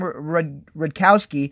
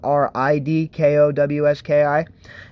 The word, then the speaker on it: Rudkowski: One staff member was seen just a few feet away from Rudkowski with fresh towels in one shot. All right. That last bullet point, they spell Luke's name wrong. It's Rudkowski, not Ridkowski. Make sure you check those dudes out over at We Are Change.